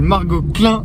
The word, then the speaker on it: Margaux Klein: Faut bien le prononcer là, t'es pas à fond sur le Klein. C'est Margot Klein.